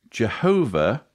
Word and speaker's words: Jehovah: Jehovah is the best known English pronunciation of the divine name, although Yahweh is favored by most Hebrew scholars.